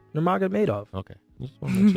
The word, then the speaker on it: Nurmagomedov: Can you pronounce Khabib's last name? Nurmagomedov.